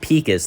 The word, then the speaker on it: Pecos: Yeah, they pronounce it Pecos.